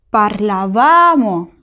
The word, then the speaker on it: parlavamo: Io parlavo, tu parlavi, lui, lei parlava, noi parlavamo, la sílaba tónica es va, parlavamo.